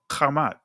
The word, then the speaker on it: Ham: But the key is Kemet or Kamat. All right? Because uh Ham name is actually pronounced Kam.